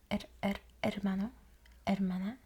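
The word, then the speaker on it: hermano: want to make sure we trip the r a little bit and by trip I mean just a little bit behind the teeth ER ermano you wanted to like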